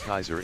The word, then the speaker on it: Caesar: Caesar is pronounced Kaiser in the EU.